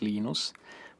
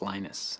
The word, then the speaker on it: Linus: I speak Finnish it's Lino's when I speak English its Linus and I really don't